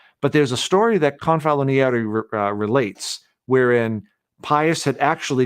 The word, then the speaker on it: Confalonieri: I'm trying to remember how to say his name correctly, but it's Confalonieri was the secretary to Pius XI, and he